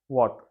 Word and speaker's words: watt: जैसे unit is वाट, WATT, वैट बोल के भी बुलाते हैं थोड़े लोग, प्रोनाउंसिएशन डिपेंड्स।